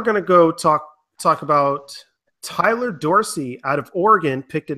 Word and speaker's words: Tyler Dorsey: His name is pronounced Tyler Dorsey. Is that correct?